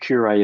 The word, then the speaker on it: Curé: Uh, Clint Curé, who you might know as QA, Q- R A Y, um, while Clint Curay is spelled C U R E with a accent on it.